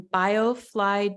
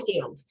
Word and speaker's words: biofield: And you are certified, you have a certification in biofluid tuning. Am I pronouncing that right? Biofield. And Biofield.